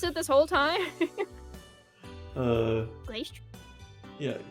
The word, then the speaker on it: Glastrier: That is how we're supposed to pronounce it this whole time? Glastrier? Yeah, Glastrier.